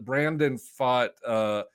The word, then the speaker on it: Brandon Pfaadt: And then Brandon Pfaadt. The P is silent, Bubba. Brandon Pfaadt, who has been blown